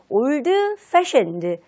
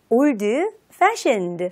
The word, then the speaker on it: old-fashioned: 바로 old랑 fashioned 이렇게 두 개 단어가 합쳐지면서 너무 old fashioned, old fashioned 하며 old의 d 발음을 살리지 않고요. 약간 연음 처리가 되듯 old의 d 발음이 살짝 빠지면서 old-fashioned, old-fashioned 이렇게 발음해 보도록 하세요.